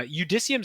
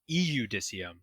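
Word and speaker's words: Iudicium: I feel like by the time we get to uh how do we pronounce this thing? The udicium the uh the uh udissium sounds right. I would also accept eudicisium.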